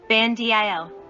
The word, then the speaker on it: Bandil: Bandil. R. 59. Kan is pronounced aloud. Dil is pronounced with a low voice. 60. Ban is pronounced aloud. Dil is pronounced with a low voice.